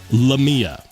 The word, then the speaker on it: Leama: I watched an interview where he pronounced it as Lama.